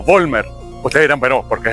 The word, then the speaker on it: Vollmer: Y la V se pronuncia como una F. Pero indistintamente se puede decir también Vollmer.